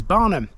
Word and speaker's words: Barholm: It's spelled Barome, but it's pronounced by people around here as Barnum, and it's part of the parish of Barnum and Stowe.